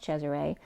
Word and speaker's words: Chezaray: I did the phonetical spelling of Caesar, which is pronounced Cesare, but I'd spelled it Chezaray, which is home of the ray.